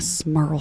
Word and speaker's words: Smurl: The Smurl family kind of like rhymes with Earl. It does rhyme with Earl.